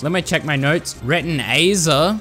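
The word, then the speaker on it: Retinazer: Retinaer, not retinizer. Retina. I said it right, guys.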